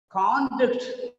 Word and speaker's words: conduct: Conduct of the boy is a noun here. Conduct of the boy. Conducting, conduct. Okay. Whenever it is performing as a verb, normally the second syllable is stressed.